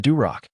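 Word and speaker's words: дурак: The singer that plays Lenski, who is Yevgeny's friend in the play, spits on the stage and states, the Duroc, rhymes with Barak and means fool.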